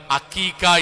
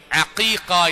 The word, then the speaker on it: അഖീഖ: നമ്മൾ അറിവ് നടത്തുന്നതിന് ചിലപ്പോഴൊക്കെ നമ്മുടെ സംസാരത്തിൽ അക്കീഖ എന്ന് പറയും ചിലപ്പോൾ ഹക്കീഖ എന്ന് പറയും ശരിയായ ഉച്ചാരണം നമ്മൾ പറയേണ്ടതും ശീലിപ്പിക്കേണ്ടതും അഖീഖ എന്നതാണ് അതാണ് ശരിയായ ഉച്ചാരണം അത് മാത്രമാണ് ശരിയായ അർത്ഥവും